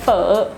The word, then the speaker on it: phở: Sorry, I just like phở so much. Phở. Phở. Phở. You pronounce it like an F in English.